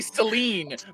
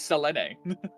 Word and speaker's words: Selene: I always want to say Celine, but it's not. The original pronunciation is Selene.